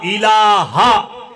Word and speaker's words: ইলাহা: লা ইলাহা ইল্লাল্লাহ। লা ইলাহা এই হা ধাক্কা হবে।